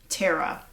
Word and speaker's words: Terra: The daughter's name was Tara. Which is kind of interesting because it's spelled Terra, which is like another word for earth.